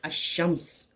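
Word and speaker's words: الشمس: silent हो जाती है लाम को नहीं पढ़ा जाता है इसीलिए हम पढ़ते हैं अशम्स इसीलिए हम पढ़ते हैं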